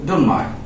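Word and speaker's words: don't mind: ডোন্ট মাইন্ড ও বলল আমি এখানে একটা উচ্চারণ শিখিয়ে দিচ্ছি এটা হবে ডোন্ট মাইন্ড ডোন্ট মাইন্ড আমরা এন এর পরে টি এবং বি যদি দেখি এই টি টা এবং বিটা উচ্চারণ করবো না ঠিক আছে হবে কি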